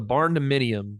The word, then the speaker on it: barndominium: called a barn dominium. You're gonna look this up when we're done talking, Fred. It's amazing. Barn dominium.